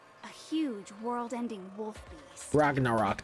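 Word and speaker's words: Ragnarök: Ragnarok, that's what it's pronounced.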